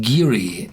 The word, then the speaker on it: Garioch: back it said uh the whiskey and the valley from which it takes its name are pronounced giri as in cheery in the ancient doric